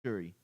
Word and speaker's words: Shuri: But anyways, so people are complaining about Black Panther being how do you pronounce his name? Shuri? Yes, Shuri.